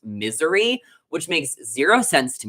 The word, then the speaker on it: Missouri: the Bachelor on TikTok and I was saying Missouri, and apparently it's pronounced misery, which makes zero sense to me.